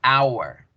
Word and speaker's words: hour: Pero ni en español ni en inglés la H suena. Entonces, cuando yo digo la palabra hora en inglés, yo digo hour, hour.